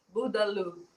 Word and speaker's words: Bourdaloue: Burdalu.